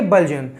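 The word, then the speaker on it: bludgeon: Second है, इसको हम कैसे प्रोनाउंसिएशन करेंगे, ब्लजन।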